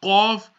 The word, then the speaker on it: Qaf: Now that Qaf is pronounced from the top of the throat.